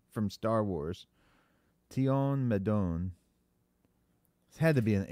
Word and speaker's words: Tion Medon: Who's Tian Medon from Star Wars? Tion Medon. It had to be an alien, right? Yeah, spell it for me.